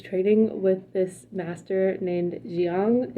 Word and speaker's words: Jiang: So she's training with this master named Jiang, is how I pronounce his name. I don't know how you pronounce his name, but I'm gonna pronounce it Jiang.